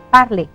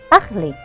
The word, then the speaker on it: parler: Bon, on va continuer avec parler. Ya, parler, perhatikan ini parler belakangnya er. Catatan dari ibu, ketika ada kata kerja berakhiran er, ya, maka er-nya wajib dibaca e.